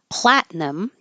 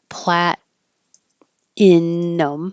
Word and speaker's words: platinum: started with Platinum because it does look like it should be three syllables like plat inum or platinum but we get rid of that middle one and just make it two syllables platinum and I put that